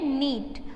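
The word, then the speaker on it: know: फिर है नीट, उसमें K साइलेंट वर्ड है। फिर है नो, नो में साइलेंट वर्ड कौन सा है? K।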